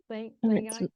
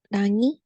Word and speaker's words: Langi: Langai? It's Langi.